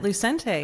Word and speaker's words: Lucente: pronounce your last name Lucente Luc how you pronounce it you got it Lucente Lucente okay beautiful man you know we